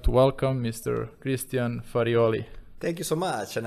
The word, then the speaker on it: Farioli: ado i would like to welcome mr christian farioli thank you so much and i'm glad that you pronounced so well my surname okay thank you